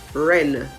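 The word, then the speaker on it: wren: the word for example the w in the word ren w-r-e-n the w in the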